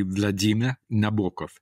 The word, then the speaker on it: Vladimir Nabokov: Okay, well, it should be Vladimir Nabokov. So it's a fully Russian one with a D. It has a kind of Z almost.